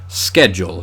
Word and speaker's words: schedule: And typically speaking, a lot of Greek loanwords that begin with SCH, like the word school, are pronounced sk. Schedule in this case, whereas it's words like schmaltz that came from German that get that kind of sh sound.